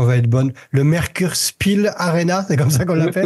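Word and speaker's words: Merkur Spiel-Arena: Alors, je sais pas si la prononciation va être bonne. Le Merkurspiel Arena, c'est comme ça qu'on l'appelle? Merkurspiel Arena.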